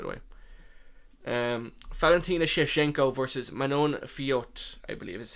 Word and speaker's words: Manon Fiot: Valentina Shevchenko versus Manon Fiot, I believe is how you pronounce it.